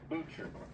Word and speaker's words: Boucher: Okay, so this is Kyle Carey up front, and the guy walking away is Boucher. Butcher, with a B.